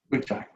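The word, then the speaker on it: ⲟⲩϫⲁⲓ: Ujai.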